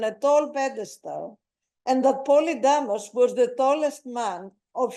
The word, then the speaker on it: Polydamas: During the course of his visit to Olympia, Pausanias was much impressed by the memorial to Polydamas, or Poulidamas, following the Thessalian pronunciation.